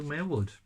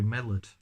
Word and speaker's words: Millward: sentences somewhat properly, Drew Millward. See, even when I actually get his name right, I pronounce it terribly wrong. I think in the past I've called him Drew Millard.